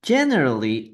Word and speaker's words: generally: Okay, la E acá, que en en este caso, no se pronuncia. Generally. Okay, people generally identify others by their faces, ¿no?